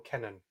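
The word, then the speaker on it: Kenan: he's my namesake girl kennen although because he's american he probably pronounces it keenan so he he directed uh poltergeist city of embargo he did monster house back in 2006.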